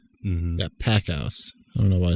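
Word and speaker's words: Packouz: So you have David Bosch. Is that how you spell his last name? That I honestly was not really comfortable to pronounce that. To be honest with you. Oh, my bad. It's David Packhouse.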